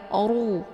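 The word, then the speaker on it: خسروا: Oru, bukan ru, tapi oru, ya.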